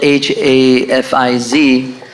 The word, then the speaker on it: Hafiz: First and foremost, on the paper it says the word before the title, before my name, it's spelled H-A-F-I-Z. That's the correct spelling, which is supposed to be Hafiz, which literally means protector.